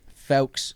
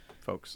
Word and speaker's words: Fowkes: Fowkes is the proper pronunciation, but Fowkes is like the stage Folks.